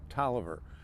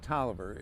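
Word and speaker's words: Taliaferro: fort worth in general was referred to camp tolliver now camp tolliver and you will notice when uh if you ever see it written out it looks like tally of pharaoh but it was it's pronounced toliver it the field or the training complex was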